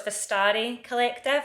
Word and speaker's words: Vestiaire Collective: So James told me I was saying it completely wrong. So it's Vestiaire Collective. I think that's how you say it. That's how he thinks it's pronounced.